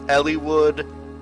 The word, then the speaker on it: Eliwood: okay now there are so many ways pronounced uh eliwood's name there's elliewood eliwood eliwood I'm probably to go with Eli wood um it just sounds more natural to me so eliwood has been